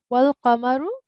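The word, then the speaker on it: وَالْقَمَرُ: Just wanted to rectify one pronunciation thing, which is not a major, but it's wal qamaru.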